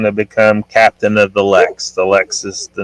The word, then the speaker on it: Lexx: It could be like Lex. It's spelled LEXX.